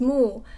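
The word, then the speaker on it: 木: and half of this part, this character is pronounced as mu, and it means tree, like one tree.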